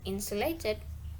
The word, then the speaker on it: insulated: One of the word stress is insulated. Explanation, it's because stress is usually on the first syllable for words ending in ate, if it's not a verb.